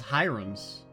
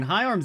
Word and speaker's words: Hyarms: Patrick Hyarms. It actually is. I thought it was Hiram's. I thought that's how they said it the first time. But, I mean, High Arms is how it's spelled.